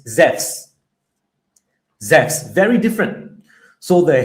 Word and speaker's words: Zeus: We we think that because in English we pronounce Zeus's name as Zeus. But in Greek, in the original Greek, the name of that false god is not Zeus as we say in English. It's Zez.